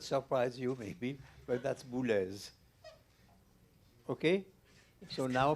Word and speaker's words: Boulez: Well, it will not surprise you maybe, but that's Bles. Okay, so now pronounce it right.